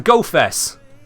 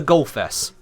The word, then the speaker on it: QGOFESS: It's a silent Q, it's the GoFess. Here we are, your final and ultimate idea on this. This is the GoFess.